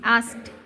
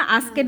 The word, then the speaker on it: asked: আস্ট, AASKED আস্ট, এখানে আস্ট উচ্চারণটা কীভাবে বলছিলা? আস্কেট বলছিলা তুমি, ওইভাবে বলবা না, এটা হচ্ছে ASK আস্ক, তারপর ED আস্কড হিম, HIM হিম।